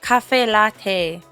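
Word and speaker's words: caffè latte: Cafe cafe latte is the right way to say it.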